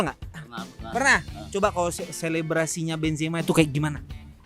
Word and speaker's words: Benzema: Karim Benzema. Siapa? Karim Benzema. Pronunciation-nya salah. Ayo. Karim Benzema.